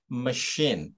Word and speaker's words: machine: in the first place machine okay CH here pronounce sh okay machines ma machines and